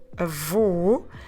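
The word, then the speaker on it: avô: what we do is those two sounds we put them into a open ah and even if you are struggling a bit to tell the difference between the word for grandfather a Vu and the word for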